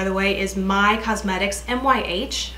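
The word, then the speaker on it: MYH: The brand, by the way, is My Cosmetics, M-Y-H, I think it's pronounced My.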